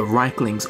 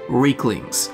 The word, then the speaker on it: Riekling: Today, we will be focusing our gaze upon the Rieklings, or Rieklings, as both pronunciations are used within the game, a race we have